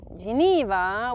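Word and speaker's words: Genève: one so here as well of course in Geneva which I call Camp and yes I say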